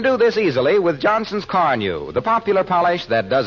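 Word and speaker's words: Carnu: If I were you, I'd buy a package of Johnson's Car New and clean and polish my car this week. You won't regret it. It's spelled C-A-R-N-U, Johnson's Car New.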